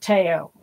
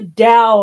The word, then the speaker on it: Tao: like a to there's there was a guy in the local Pagan Circle that called it teao and was talking about the book The Teo of Pooh and I'm like that's the Dow of poo you went but um